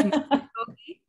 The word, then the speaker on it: Muskogee: But yeah, so I just was, when you were trying to pronounce Muskogee Creek, it's Muskogee.